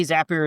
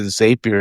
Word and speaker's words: Zapier: this, I pronounced it Zapier and you said it's Zapier and you you had a little pneummonic for it. So, tell the folks how to remember Zapier. Yeah, Zapier makes you happier is the Zapier makes you happier.